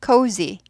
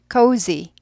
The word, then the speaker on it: cozy: cozy, cozy, cozy, cozy, g 아니고 z예요. z, xyz 할 때 z, z 이거 연습하세요.